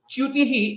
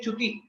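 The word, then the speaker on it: च्युतिः: Similar to Jyotisham, Chyutihi again is a combination of Chakara and Yakara, and most of the times we say Chuti and we don't correctly say Yakara, we don't pronounce it rightly. So pay attention and pronounce it rightly as Chyutihi, Chyutihi.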